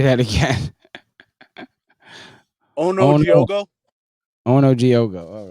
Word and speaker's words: Onujiogu: I forgot to ask you, how do you say your name? Ready? Onujiogu. Onujiogu. All right. Yep, that's correct. Onujiogu.